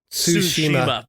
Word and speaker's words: Tsushima: Tsushima. Wow, I'm off it this morning. It's Tsushima.